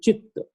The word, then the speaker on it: chitta: So vritti ta and chitta ta both are double. So that's why there is a double T on that. So we should, while pronouncing it, should be chitta.